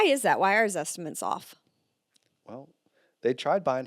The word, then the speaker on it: Zestimate: So I think the number one question number one question is this estimate right? No. Never. You know in fact the guy it literally rhymes with the word estimate.